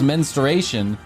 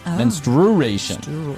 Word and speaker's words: menstruation: and then there's a movie where everyone calls menstration mensturation menstruation which is really like weird to me and